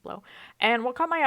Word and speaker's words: Blaux: morning I saw this blow portable AC thing and at least how that that's how they pronounce it blow and what caught my